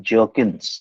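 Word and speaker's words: Bjerknes: in the theory of jerkins uh be silent you have to pronounce it as jerkins j-e-r-k-n-e-a jerkins okay two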